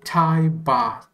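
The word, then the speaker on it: Thai baht: the currency for thailand they which they call tai ba it's spelled this way so i'm just gonna type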